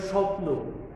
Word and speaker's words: স্বপ্ন: অর্থাৎ যেমন স্বাধীন শব্দটা আমরা উচ্চারণ করছি, তো স্বাধীন কিংবা স্বপ্ন, এই প্রথম শব্দে আমরা খেয়াল করলাম যে এখানে শ্বাস রয়েছে, তো আমরা প্রথমেই শ্বাসাঘাত দিচ্ছি।